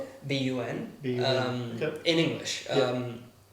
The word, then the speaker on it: bun: BUN. Okay. In English. It's phonetically pronounced the same way.